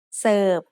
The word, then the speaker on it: เสิร์ฟ: Serve. Serve is said with a low tone because of the same tone rule we had earlier.